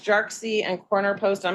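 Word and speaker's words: Jarkesy: Jarksy. Thank you. Yeah, Jarksy. Like you're saying Jar Jar Binks, and then you're switching stream. It's very confusing.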